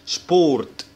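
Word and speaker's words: Sport: والمقطع ده على بعضه اللي هو اس سي ها بيتنطق شين، فبنقول طاشي يعني حقيبة، ولما بيجي بعد منه بي بيتنطق شبا، يعني بيتنطق كأنه شين كده، فبنقول شبورت.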